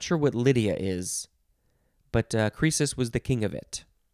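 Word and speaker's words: Croesus: next is it's pronounced crisis but it is spelled capital c r o e s u s crisis the o e makes an e sound noun from 1621 crisis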